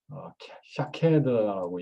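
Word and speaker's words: שקד: 이쪽 가지에 살구꽃 형상, 여기서 살구꽃이란 히브리어로 샤케드라고 읽는데요.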